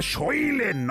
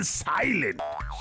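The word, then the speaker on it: silent: কতবার বলেছি যে ওটা শৈলেন নয় সাইলেন্ট।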